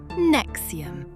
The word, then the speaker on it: NXIVM: Pronounced NXIVM.